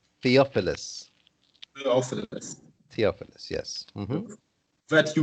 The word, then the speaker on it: Theophilus: us This word, this name is pronounced Theophilus. Theophilus.